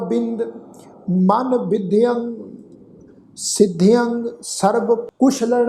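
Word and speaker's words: ਕੁਸ਼ਲਣਹ: ये जिहड़ा शब्द आ कक्के पैर औंकड़ ससे पैर बिंदी लगा के फिर लल्ला नाणा फिर हाहा अखर मुक्ता उच्चारण करांगे कुशलन है।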